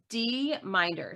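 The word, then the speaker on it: dminder: tell you how exactly how do you pronounce that d minor so the letter d and then m-i-n-d-e-r okay and it's it's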